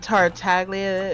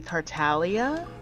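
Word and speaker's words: Tartaglia: good job oh and taraga is supposed to be Talia because the g is silent I heard that that's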